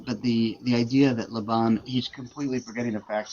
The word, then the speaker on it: Laban: by the way, the the pronunciation of what did he say? Leban like nails on the chalkboard. Um, but the but the the idea that Laban he's completely forgetting the